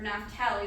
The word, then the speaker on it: Naphtali: And Naphtali, which is such a fun name to say. Or Naphtali, sometimes you hear it pronounced, which means wrestling.